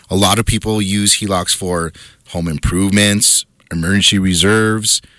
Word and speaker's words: HELOC: Okay, so let's talk let's start with the the HELOC. Did I say it right? Yes, you said it right. HELOC.